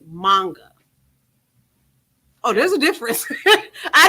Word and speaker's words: manga: No, I'm saying it wrong. It's not manga. It's manga.